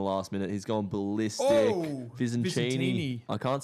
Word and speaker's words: Visentini: Visantini. ends with Martini.